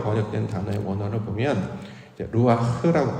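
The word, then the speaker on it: רוח: 요렇게 이제 지금까지는 해석을 해 왔는데이 바람이라고 번역된 단어의 원어를 보면 이제 루아흐라고 발음을 하는데요.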